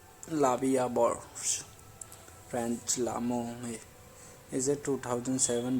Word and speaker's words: La Vie en Rose: La Vie en Rose, literally life in prank, French pronunciation La Vie à Bourse, French L'amour, is a